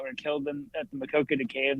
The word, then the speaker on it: Maquoketa: of our anchors like she couldn't say Maquoketa and instead of asking she just said it wrong seven times seven different ways and yeah it's like my coconut was one of them uh what else I